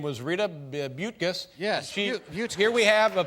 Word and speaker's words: Buttgas: It's spelled oddly, but it is Buttgas.